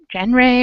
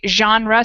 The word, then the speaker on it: genre: it looks like jen jen ray or something but we say genre so it's really soft G sound at the beginning thank you edson go